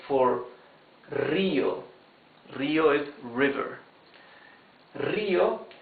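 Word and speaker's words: río: Rio has the rough sound because the R is at the beginning of the word.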